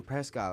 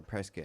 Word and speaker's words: Prescott: I was in Prescott last night, or Prescott, however you guys want to pronounce it.